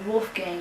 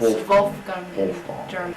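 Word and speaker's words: Wolfgang: vulf gun Wulf gun it's pronounced Wolf Gang in English but it's wulfgang he called certain people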